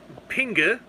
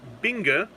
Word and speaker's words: Pinge: oh yeah oh yeah a pinge pronounced pinga or Binga uh plural pingan is a name given in